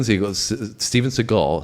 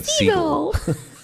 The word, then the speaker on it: Seagal: And so Steven Seagal, so you almost got me saying Segal. Is that's how it's spelled though.